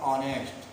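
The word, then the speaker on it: honest: An hour, an ऑनेस्ट, क्योंकि इनका जो उच्चारण है गाइस वो है आवर और ऑनेस्ट, ये है गाइस।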